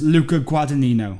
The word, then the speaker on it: Luca Guadagnino: It's Luca Guadagnino, I think, is how you pronounce it.